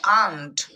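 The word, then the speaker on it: aunt: যদি বলি এ ইউ এন টি, এটার উচ্চারণ অন্ট হবে না, এটার উচ্চারণ করতে হবে আন্ট।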